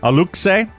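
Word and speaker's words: Aluxe: the uh Oscar I'll ask you on the pronunciation a-l-u-x-e A Luke say yeah Alexei a look say a mischievous Woodland Spirit oh I hate them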